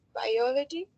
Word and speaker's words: biology: the next one is biology it has four syllables and the more stress is the second one biology perfect thank you so much